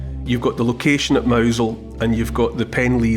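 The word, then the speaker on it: Mousehole: o w z l in that kind of Cornish way mouse hole becomes mousel and mousel was the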